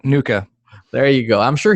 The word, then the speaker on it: NUCCA: a technique known as and you see CA Nuka is that how you say it yep Nuka there you go I'm